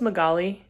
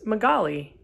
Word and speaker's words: Magaly: it or something and she says oh it's magaly and i stop and i'm like wait a minute what what is your name she's like it's magali i was like how do you spell it